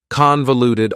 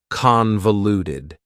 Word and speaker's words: convoluted: for you is convoluted convoluted also has four syllables and the stress is on the first syllable convoluted that second syllable again has that schah sound that reduced vowel sound uh convoluted convoluted if something